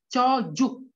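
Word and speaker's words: çocuk: itu sama dengan j c yang nggak ada ekornya sama dengan J jadi c sama dengan J jadi cara membacanya itu sama seperti bahasa Indonesia cocok Oke jadi gimana cara membacanya artinya anak kecil Oke jadi cara membacanya cocok karena c yang gak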